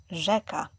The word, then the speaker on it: rzeka: Just remember, you do not separate those letters. You read them as one sound. Ż, rzeka.